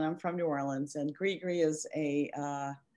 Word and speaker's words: gris-gris: Is that how I pronounce it? Gris-gris?